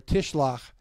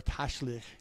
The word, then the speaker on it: Tashlich: The following Sunday, which will be next Sunday, is Kevaravot or Tishlach. And so there are Tashlich, depending on how you want to pronounce it.